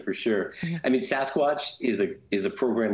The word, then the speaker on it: SASCWATCH: I mean, Sasquatch is a is a program that's looking at that hurricane engine you you were alluding to it.